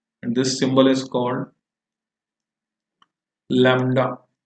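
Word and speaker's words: lambda: इसी को हम कहते हैं wavelength, and this symbol is called लैम्डा। बी भी आता है लैम्बडा। तो लैम्डा है ये, बी साइलेंट सा है प्रोनाउंसिएशन में।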